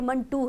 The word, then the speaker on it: मंटो: इसका नाम है लेकिन ये दरअसल खुद सहादत हसन मंटू ने कहा कि यह मन टू है य वन और टू से अगर इसको किया जाए तो मेरे ख्याल से आपको इसको प्रोनाउंस करना थोड़ा आसान हो जाएगा तो यह करेक्शन खुद